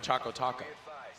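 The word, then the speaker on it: chocoTaco: it wrong a guy do taco doesn't rhyme we're talking oh boy yes choco choco taco oh it's supposed to rhyme yeah it's got a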